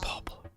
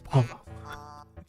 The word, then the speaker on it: Paulo: Oh, it's not Pablo. It's Paulo.